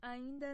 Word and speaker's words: ainda: Não, ainda não. Oh, ainda não. Não, ainda não. So why in that case is the D pronounced D? Ainda instead of J.